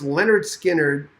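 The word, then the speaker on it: Lynyrd Skynyrd: August 73 Leonard Skinner pronounced Leonard Skinner after their school teacher they named the band after your school teacher August 1373 uh just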